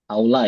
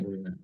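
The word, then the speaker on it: أولى: Aula ya, ini harusnya aula bukan ula.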